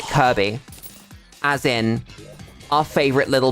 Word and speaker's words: Kirkby: It's spelled Kirkby. K I R K B Y. But everyone pronounces it Kirby, as in our favorite little pink boy who gives you the big suck.